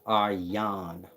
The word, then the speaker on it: Aryan: are you are young the one at the bottom is aryan but it's pronounced are yon the one at the top is arya arya varta is the place they set up meaning aryan nation got to do